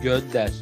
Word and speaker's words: Gönder: Çok güzel 15 kadına ini bacanya apa? Gonder. Gönder.